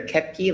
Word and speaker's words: Koepke: I'll go to Senator Koepke. I thank the chair. Hello, I am Senator Kepke, like you kept the key.